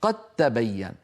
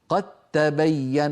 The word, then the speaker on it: قد تبين: عند الادغام ماذا تحدث قد تبين فلا يقع للدال اثر في النطق ننطق تاء مشددا هكذا قد قد تبين ولا يبقى للدار اثر متى تظهر الدال ان